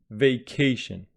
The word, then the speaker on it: vacation: Firstly, the stress is on k, vacation.